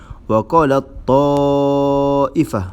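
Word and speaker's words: وَقَالَت طَّائِفَةٌ: Waqalat ta'ifah. Okey, cara bacaan dia masukkan huruf pertama tadi iaitu huruf ta yang mati ke dalam huruf ta yang berbaris tadi.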